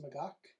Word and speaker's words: Magach: this is the m60a1 i believe it's pronounced magok 6b uh impressive kit very